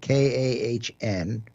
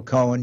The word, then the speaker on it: Kahn: And his phone number is, his last name is spelled K-A-H-N, Kahn. Not Cohen.